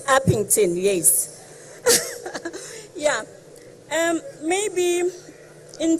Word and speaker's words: Upington: the community of um yokington I'm not sure whether I'm pronouncing the area correctly it's upington yes yeah um maybe